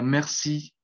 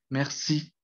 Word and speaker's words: merci: No en todas, eh, hacen esa elevación de tono al final de cada palabra. Entonces, por ejemplo, en este sería merci, merci. O la siguiente que sería tête, tête. Y esa también es un sonido abierto.